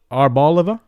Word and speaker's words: Arboliva: Zerora Reverse and Arboliva. That's how you pronounce it. Arbaliva EX.